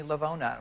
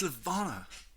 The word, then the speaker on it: Levana: on the crew called everyone kept mispronouncing that everyone kept calling me lavonna you should have burned them with the cigarette how about that parakeet you had on your shoulder too it's levana that seems like an si